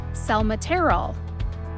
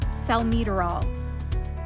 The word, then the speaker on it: salmeterol: to emphasize and more for example salmeterol looks like cell material the correct pronunciation is cell meterol that one seems easy